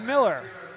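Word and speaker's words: Mueller: as Greg Phillips Cooper Miller pronounced Miller spelled m-u-e-l-l-e-r another thing about Michael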